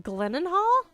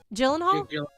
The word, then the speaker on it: Gyllenhaal: i got the perfect casting for tarzan jake glennon hall gyllenhaal i always say it wrong miss stereo oh